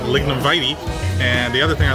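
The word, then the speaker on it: Lignum Vitae: One thing is that the park I've been pronouncing Lignumbate is actually pronounced Lignumvite.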